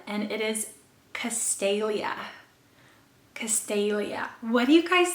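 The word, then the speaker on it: Castalia: is predominantly a girl's name and it is castelia castelia what do you guys think of that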